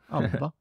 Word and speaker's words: ABBA: Should I be saying ABBA? Is that better? Should I say ABBA? ABBA would be the Swedish pronunciation. ABBA.